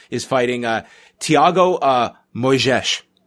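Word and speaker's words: Moisés: fighting a Thiago uh moyzisch I believe is how you pronounce it yeah I mean you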